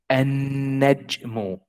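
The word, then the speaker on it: النجم: Like here in the example, the letter noon, we say an-najmu, an-najmu, an-najmu. See here in the pronunciation, there is no L here, there is no lam. We go from alif to noon, an-najmu.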